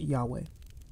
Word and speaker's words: Yahweh: burning bush in Exodus 3, 13-15 is likely pronounced Yahweh.